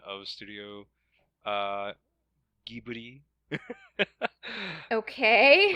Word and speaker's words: Ghibli: corrupted the pronunciation of Ghibli which is meant to have a G sound as a gift rather than a Jason